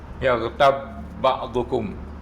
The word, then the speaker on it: يغتب بعضكم: Bila satu huruf yang sama, ba dengan ba, satu mati, satu hidup. Yaghtab ba'dukum. Jadi tak payahlah dikolkolahkan tu. Wala yaghtab ba'dukum. Cara membacanya tak macam tu. Idghamkan saja, masukkan saja.